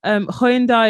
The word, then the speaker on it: Hyundai: So yeah, Hyundai have recently rebranding about telling people how to pronounce it.